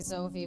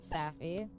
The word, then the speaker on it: Safi: I forgot to mention that Safi's name is pronounced like Sophie, but it said like Sophie. Well, they were pronouncing it Safi.